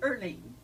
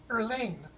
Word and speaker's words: Erline: Erline. Erline. There's a little A in Erline. there? Erline. Mm-hmm. Okay. I almost got it. Earl with an ing on it.